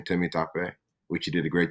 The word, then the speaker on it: Temitope: dad is from Legos Nigeria hence the name Timmy tape which you did a great job of pronouncing well done Matt well done I practiced